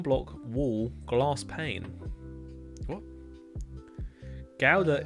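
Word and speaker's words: Gouda: wall glass pane what gowda is pronounced with a guttrell G ouda was that I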